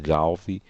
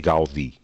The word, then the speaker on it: Gaudí: Eu digo sistematicamente Gaudi e deveria dizer Gaudí.